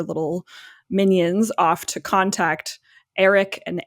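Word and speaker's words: Erryk: And she sent one of her little minions off to contact Eric and Eric, which is two twins, both basically pronounced Eric, but one is spelled with an E and one is spelled with an A.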